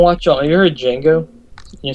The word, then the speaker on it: Django: It's spelled like DGANGO. Yeah, I got it. DJANGO. The Django. But it's pronounced Django.